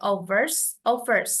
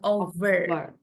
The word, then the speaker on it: offers: Bukan V, tapi F, offer. And offers. Kalau overs, itu nanti tulisannya kayak gini, over. Ini bacanya over. Kalau V itu kayak P-nya tebel gitu bacanya. Kayak Valentine. Over. Kalau ini offers, biasa offers.